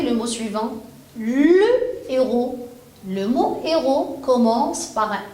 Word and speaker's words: héros: ce mot au pluriel je vis les héros je lis les héros je ne mets je ne fais jamais de liaison je ne prononce pas